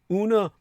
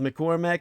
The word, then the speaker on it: Una McCormack: whose first name is spelled U-N-A, Una, and her surname is spelled McCormack, M-C, uppercase C, O-R-M-A-C-K. Two C's, the M with the lowercase c as in McDonald's, and the uppercase C to start the final syllables of her surname, McCormack, M-C-C-O-R-M-A-C-K.